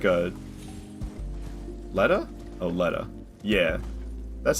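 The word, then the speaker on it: Leda: like a Lea oh Lea yeah that's how they pronounce it people will say Lita but they they pronounce her name Lea in game so I pronounce it that way as well cuz that's what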